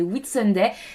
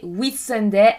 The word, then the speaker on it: Whitsunday: depuis les Whitsunday.